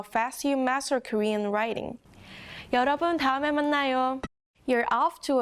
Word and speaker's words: 여: The next character is this, 여. Listen carefully to the pronunciation. 여, This sound has a lot in common with the last character sound, doesn't it? The only difference is the Y sound in 여.